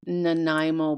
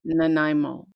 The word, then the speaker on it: Nanaimo: Why don't you tell everybody how we pronounce it? Because Yes. The dessert that you made, those are Yes. called Nanaimo bars. Okay. yeah, okay. Nanaimo bars, yes.